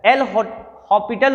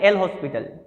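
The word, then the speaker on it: L'Hôpital: तो रूल क्या कहता है, एल हॉस्पिटल क्या कहता है, एल हॉस्पिटल बोलते हैं, एस साइलेंट होता है यहाँ पे, लेकिन हम लोग क्या बोलते हैं, एल हॉस्पिटल, ठीक है ना।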